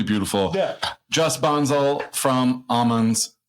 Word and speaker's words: Aman's: yeah just bonsel from almonds did I say it right almonds almonds yes uh I I cannot